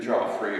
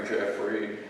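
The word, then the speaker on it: Geoffrey: one it's pronounced differently according to who is pronouncing it because it's g e o FF r y so it's either Joffrey or Jeffrey are kind halfway in between like the man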